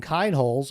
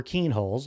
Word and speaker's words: Kienholz: Now it seems that he's got some competition as Lincoln Kinholes or Keenholes. I've heard it pronounced in both ways but I'm going to go with Kinholes.